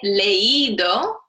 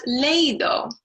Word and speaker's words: leído: The stress is actually on this I here. So if we didn't have an accent mark, it would be pronounced leído, not leído, when we want the stress on the I.